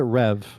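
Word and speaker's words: Reve: Is that how you say Reev? They pronounce it Rev.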